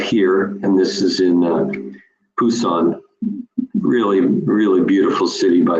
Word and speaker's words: Busan: bottom right you see Busan actually pronounced Pusan and that's where our